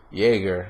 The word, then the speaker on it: Jaeger: one little spoiler away, was when the main Jaeger, that's how you pronounce it apparently correctly. When the main Jaeger, Gypsy Danger, was fighting a kaiju in the city, the whole sequence was incredible.